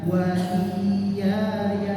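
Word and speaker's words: وَإِيَّايَ: Dibacanya bagaimana? Wa iya ya, wa iya ya, enggak dibaca wa iya ya, wa iya ya, enggak, tapi ditekan ya.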